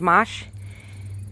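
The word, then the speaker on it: mâche: is also called mosh it's spelled m-a-c-h-e pronounced mosh and it's a low-growing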